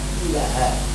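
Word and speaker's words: إله: Tapi bacanya ilah itu selalu dibaca panjang. Walaupun harakatnya itu cuma sret gitu aja, tapi bacanya selalu panjang.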